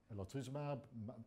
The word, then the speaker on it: elotuzumab: for their public assessment reports, some simple tables elotuzumab?